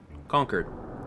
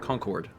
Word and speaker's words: Concord: conquered where you know people that live there would call it conquered but anyone from out of town we'll call it Concord and like I mean I guess if you live there you have the you have say in it you'll be like no